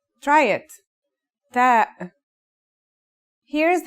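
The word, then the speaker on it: تاء: The pronunciation is like the English T, except you should release your breath with a strong burst of air. Try it. Ta.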